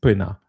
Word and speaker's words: poena: I think this uh you probably but it's I guess almost if you pronounce it fast, poena.